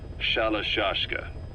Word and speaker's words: Shalashashka: The guerrillas were using the name amongst themselves, and by the time I got to hearing about it, pronunciation had wound up as Shalashashka.